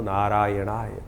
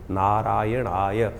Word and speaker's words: नारायणाय: कई बार लोग मंत्र का जप करते करते थोड़ी सी गलती कर देते हैं। नारायण नारायण नारायण नारायणाय नारायण नाराय नहीं है। नारायणाय ओम नमो नारायणाय इस मंत्र का इसका स्तवन करें।